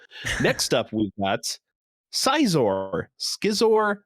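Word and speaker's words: Scizor: got seizor schizor skyzor i've always said izor because like scissor um yeah i mean i always used to say scissor but i think i got corrected to size or at some point it really should just be sizzler he's supposed to have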